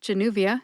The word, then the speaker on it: Januvia: two or three syllables but Januvia has four they are J like justice new like a new car V like the letter in the alphabet v and uh which